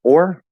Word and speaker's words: or: like say for example the word or like this or that the full pronunciation is or but it usually gets reduced uh to er because it's usually not stressed and it's a very